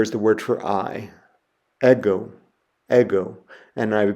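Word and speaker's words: ἐγώ: I have there is the word for I ego ego and I have a picture of myself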